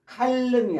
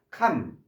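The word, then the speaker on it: calm: 감이 발음이 안 돼요. L이 발음이 안 돼서 칼음이 아니라 캄 마음을 가라앉치다.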